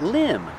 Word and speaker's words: limb: tree limb that's right limb the V is silent one tree limb and